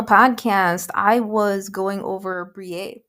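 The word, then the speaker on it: Briet: So, previously on the podcast, I was going over Brier that is spelled B R I E T. Again, it's a French name.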